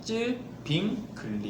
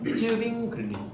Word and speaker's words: 쯔빙글리: 쯔빙글리란 쯔빙글리, 이 사람은 스위스 사람이에요. 쯔빙글리, 쯔빙 쯔빙글, 글씨할 때 글, 리본 할 때 리.